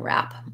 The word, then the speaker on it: wrap: um yes there's no even though it's spelled with a w the w is silent in rap um good question so